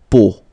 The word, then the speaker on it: peau: it's, but then, so the sound that you will have to pronounce when you've got these three vowels combined together, it's the sound O.